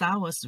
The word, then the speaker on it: hour: She spends six hours reading everyday. Và khi phát âm từ our, chúng ta nhớ không phát âm là hour, lược chữ h đi. Hour.